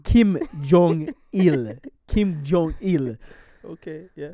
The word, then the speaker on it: Kim Jong Il: So King Jong Il. yeah, I hope I pronounced King Jong Il. Kim Jong Il.